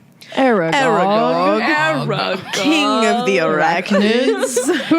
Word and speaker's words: Aragog: Aragog.